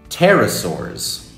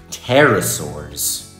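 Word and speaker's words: Pterosaurs: Terasaurs. The P is silent. It's quiet. Terasaurs. Terasaurs.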